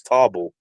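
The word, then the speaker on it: Tarble: They should have And him why the fight hell did you say Taba. Tarbell, bruv? It's Tarbell.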